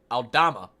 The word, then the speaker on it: Aldama: uh pace and drive I keep saying his name wrong goodness it's gonna kill me aldama stop the initial drive by audama and then